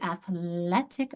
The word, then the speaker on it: athletic: And I went from athlete, a long E, to athletic, a short.